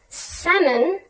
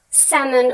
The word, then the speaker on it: salmon: example the spelling of salmon was changed to salmon with an l even though we don't pronounce the l this was done to